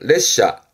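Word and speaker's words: 列車: 발음은 레샤.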